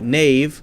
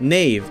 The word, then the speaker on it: knave: hasn't really changed we say ke na ve knave like knave na ve but still spell it in the most ridiculous possible way I